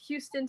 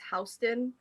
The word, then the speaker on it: Houston: Like, there's Houston, Texas, right? But in New York, it's Houston. So I feel like, but it's spelled the same.